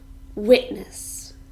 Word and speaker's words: witness: little bit of grammar witness this is a noun and it has two syllables and we stress the first one witness a witness is a